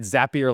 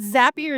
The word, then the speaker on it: Zapier: it is it uh not zappier but what's is it zappier like happy isn't what you always say Beth yeah so like I'm with you like how am I supposed to pronounce it but zapier zapier is like I mean naden